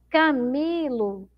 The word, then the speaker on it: Camilo: Camilo, Camilo. Então, a sílaba mais forte é o mi, não é?